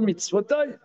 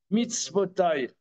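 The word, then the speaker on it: מצותו: Ça se prononce mitzvotai, mais c'est écrit mitzvato. Pourquoi l'auteur, dans Vaetranan, chapitre E, Pasuk Yud, pourquoi mitzvato? Ça devrait être mitzvotai. D'ailleurs, ça se prononce mitzvotai.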